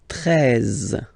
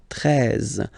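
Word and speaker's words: treize: 13. 13. Final E, as usual, not pronounced.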